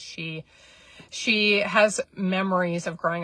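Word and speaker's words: Xi: It's spelled X-I, and if I'm pronouncing this incorrectly, I apologize. I believe it's pronounced she.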